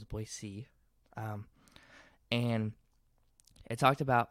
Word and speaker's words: Boise: to take up four Boise which actually is pronounced Boise not Boise so it's Boise and it talked about how we or at